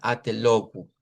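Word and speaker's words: até logo: Así que si imprimieron el material, corríjanlo y pónganle ahí una u y que diga atelogu. Claro, esta o es la única o que usted y yo conocemos y podemos hacerla así como logu, logu, pero note que cuando decimos logu, esta o es como más larga porque es la o completa. En cambio, esta es una o corta. Al ser una o corta, eh, la palabra también se acorta. y decimos locuel atelu.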